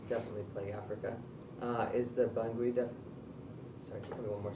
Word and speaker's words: Bangui: So, because of the monetary constraints that still definitely plague Africa, is the Bangui sorry, tell me one more time. Did I pronounce it right? Bangui.